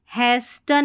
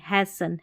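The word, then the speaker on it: hasten: फिर यहाँ पर इसको हैस्टन नहीं हैसन, हैसन, यहाँ पर भी STEN है ना लास्ट में, तो टी साइलेंट है।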